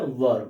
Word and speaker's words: were: वर को बहुत सारे लोग वेयर भी पढ़ते हैं, लेकिन इसका शुद्ध प्रोनाउंसिएशन क्या होता है, इसका होता है वर, वर वधु वाला, वर वधु। उसी पर इसको हम क्या करेंगे, वर पढ़ेंगे।